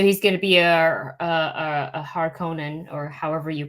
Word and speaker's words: Harkonnen: So he's going to be a Harkonnen, or however you pronounce. Harkonnen, the Harkonnen.